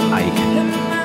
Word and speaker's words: Eik: started late or Ike yeah it's a really good question like I understood almost anything I've lived in too many countries but if you say it like Icelandic people you'll say ache ache and your last name